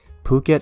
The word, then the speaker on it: Phuket: means those letters are aspirated in this case phuket is pronounced phuket not it besides